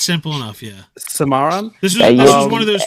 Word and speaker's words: Cimarron: I didn't even look up how to pronounce this one. The Cimarron. You got it. This one's simple. It's simple enough. Yeah. Cimarron.